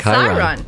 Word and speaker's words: Chiron: And that was Mara, Mara pronouncing said Chiron.